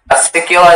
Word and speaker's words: acicula: Your word is acicula. Acicculum. Can I have all the information? Sorry, I think you misheard me. Acicculum. Acicula. Can I have all the information? Sure. Acicula is the only pronunciation.